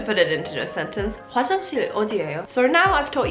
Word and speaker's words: 화장실: The way to say toilet is 화장실. 화장실. 화장실. I feel stupid making this video, I don't know why. If you wanted to put it into a sentence, 화장실 어디예요?